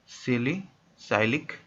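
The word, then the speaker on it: salicylic: सिलिसिलिक acid, सिलिसिलिक acid सबको पता है क्या होता है, ये होता है आपका सिलिसिलिक एसिड। ऐसे इसको हम शॉर्ट में बोलते हैं सिलिसाइलिक एसिड, सिलिसाइलिक एसिड, ठीक है, ये इसका स्पेलिंग हो गया।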